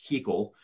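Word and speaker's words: Kuchel: uh show um left uh they show Thomas Keele KU u c h l but pronounced Keele the senior US senator of California in the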